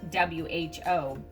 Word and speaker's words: who: It does not, it's spelled W-H-O, but it sounds like something an owl would say.